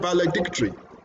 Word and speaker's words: valedictory: And then you have valedictory. Tick is stressed in that word.